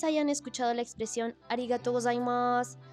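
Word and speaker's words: ございます: escuchado la expresión arigato gozaimasu. Go, za, como un zumbido, como zzz, y aunque venga un masu al final, se va a pronunciar más.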